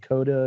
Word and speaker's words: CODA: Sion Heater, because she made a movie called Coda, and it rhymes with Yoda.